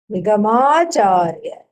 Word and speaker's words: निगमाचार्य: Then there is a long A here. Then that A is also for Acharya. Nigama plus Nigama plus Acharya. Nigamacharya.